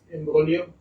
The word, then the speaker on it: imbroglio: G is silent there, so it's imbroglio.